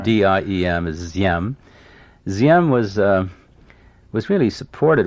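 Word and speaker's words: Diệm: by the way uh d in vietnamese is pronounced like z ziem d-i-e-m is ziem ziem was was really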